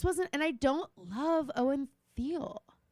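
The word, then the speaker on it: Owen Teale: But I just wasn't and I don't love Owen Theal. Really? Is that how you say his name? Owen Teal.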